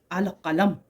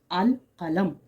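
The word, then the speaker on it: القلم: मिसाल के तौर पर जब मैं लिखूंगी इस तरीके से अल कलम वो अलिफ और लाम की आवाज वाज़ तौर पर आप सुन सकेंगे। अल कलम।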